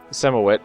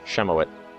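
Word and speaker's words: Ziemowit: So, my son, Semowit, is going to name his son. I actually think it's pronounced Shemowit.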